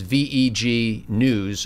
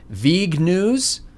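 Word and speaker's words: VegNews: a vegan magazine suit so it's a hard G okay and but the magazine is VE G news all one word so do I call that V news or do I will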